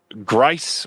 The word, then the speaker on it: Grice: Ronnie also wants to let you know that Grice rhymes with rice. Oh, my bad, Roni.